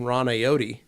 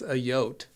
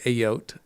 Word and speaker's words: Ayotte: So we used to call Ron Ayotte. Okay. And then he's like, it's Ayotte. Oh. And so that's what you say, Ayotte.